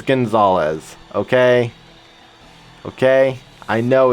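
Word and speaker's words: Gonzales: I stated at the start of the chapter that when I was young, I used to pronounce it as Gonzals instead of Gonzalez because I didn't know Gonzalez was a name.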